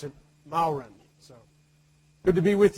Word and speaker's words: Mauren: when people don't know me they usually say when they do know me they say and I usually pronounce it bowren so good to be with you I was